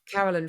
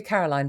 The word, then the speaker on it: Caroline: did get that right I was GNA say your name wrongly Carolyn that would be Caroline if people would like